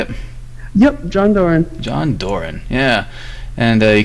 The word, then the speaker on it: Doran: Yep, John Doran.